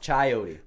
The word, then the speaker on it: chayote: know damn chayote yo are you sure you're pronouncing it correctly i yo i put it in google it's called it's pronounced chayote yo make sure you